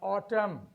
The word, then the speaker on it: autumn: We have autumn. We have hymn. Here N is essential, but the letter is silent. So it is not column, it is column, it is autumn, it is hymn, it is hymn, not hymn.